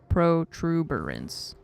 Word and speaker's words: protuberance: right pro pro tuber there's not a second R protuberance or third R I guess protuberance tuber like a tuber right I don't I